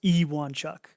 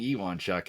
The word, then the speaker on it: Ewonchuk: don't remember but it's it's actually pronounced e1 chuck yeah because i was saying ewon chuck and byron and i had a long debate on air about it being you and chuck which was interesting so